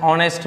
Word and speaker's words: honest: Okay, जैसे हम एक और एग्जांपल लेते हैं, ऑनेस्ट मैन। क्या हम बोले? HONEST, क्या लिखे हैं? ऑनेस्ट मैन। अब देखिए एच तो है लेकिन उच्चारण क्या आ रहा है? ओ का, ऑनेस्ट मैन।